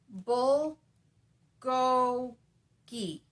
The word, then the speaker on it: bulgogi: him if he'd met bulgogi usually over enunciating it so he could hear it pronounced correctly over time that morphed into a bull and now it's bull go gee yes the really long